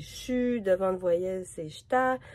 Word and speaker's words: chu: Donc, c'est pas je suis, on dit chu.